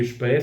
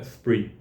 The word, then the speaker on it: Spree: Se está fazendo uma homenagem ao rio que corta Berlim, pronuncia Spree, se não, se tiver em inglês, é Spree.